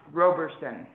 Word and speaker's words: Roberson: By the way, his name is pronounced Roberson, as in row, row, row your boat.